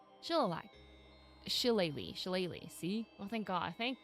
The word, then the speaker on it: Shillelagh: The ancient Dooley Shillalagh? Shillelagh.